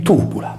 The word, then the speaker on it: Tybula: Il problema della sua individuazione consistette nel fatto che la vocale Y della prima sillaba veniva letta erroneamente come una I anziché come una U, stravolgendo il suo significante e conseguentemente il suo significato.